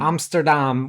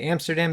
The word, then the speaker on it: Amsterdam: which is how you pronounce it in our Dutch class. Yeah, my Dutch teacher corrects me every single time because I say Amsterdam. She says, let's say it a little bit more Dutch.